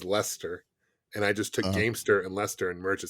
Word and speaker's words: Gamester: That's what kind of, and kind of rhymes with gangster, I guess, a little bit too.